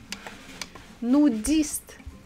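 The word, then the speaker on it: нудист: Russian language it's for it is the same nudist nudist okay maybe not the same but pretty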